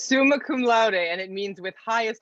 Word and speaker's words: summa cum laude: how to pronounce it, but I think it's summa cum laude. So that was also cool, I guess. So now to go back. It's summa cum laude, and it means with highest honors, my friend.